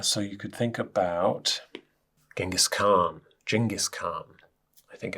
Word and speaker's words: Genghis Khan: So you could think about Genghis Khan, I think it's pronounced, and the Mongolian Empire.